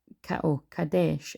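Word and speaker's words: Qadesh: down but anyway um quades pronounced cadesh is an ancient Egyptian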